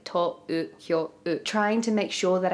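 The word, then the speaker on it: 東京: They have an elongated O sound. But because of that, Tōkyō also has the little lines above it because it's like Tōkyō.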